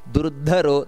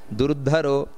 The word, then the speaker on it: ದುರ್ಧರೋ: ಸುಬ್ಬು ಮಹಾಪ್ರಾಣ ಇದೆ ಸುಭುಜೋ ಹಾಗೆ ದುರ್ಧರೋ ಧ ಅನ್ನೋದು ಮಹಾಪ್ರಾಣ ದುರ್ಧರೋ ವಾಗ್ಮಿ ಎಲ್ಲಾ ಕಡೆಯೂ ಕೂಡ